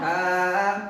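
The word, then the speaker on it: ث: উপরে তিনটি ফোটা পাইলে তার নাম তার নাম সা উচ্চারণ কেমন হবে সা উচ্চারণ কেমন হবে হা জিরব্বার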